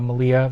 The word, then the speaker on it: Malia: I know Malia rhymes with Maria showed up last year.